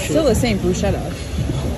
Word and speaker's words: bruschetta: I'm gonna get the bruschetta. The what? The bruschetta. Bruschetta. Chutzi. You can pronounce. Where is the air? Where is the? It's still the same bruschetta.